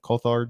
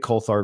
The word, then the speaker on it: Coulthard: Coulthard.